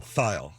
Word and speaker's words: Thayil: How would you say it? File. File? File. Like a file? No. File. It rhymes with smile, I suppose.